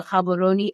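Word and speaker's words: Gabon: want to go to habon and yes I said the G with the proper pronunciation um not then you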